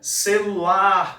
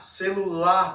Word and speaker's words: celular: Então, celular, celular. Olha, o lar sendo mais esticado.